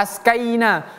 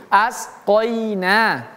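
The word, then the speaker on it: وَأَسْقَيْنَاكُم: 3 syikhatin wa asqinakum ini huruf qof bukan ko bukan ko bukan bukan ka ya jangan siktikhti wa askaina askaina salah Tapi asqoina wa asqoqa qoinakum syamikhatin wa asqainakum.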